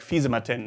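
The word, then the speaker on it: Fisimatenten: again defeat the matenton like you write it like physi but you usually say it like fisa Martin at least I do I'm not sure if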